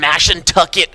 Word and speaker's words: Mashantucket: We're from Day 1B here, the Foxwoods World Poker Finals from Mashantucket, Connecticut.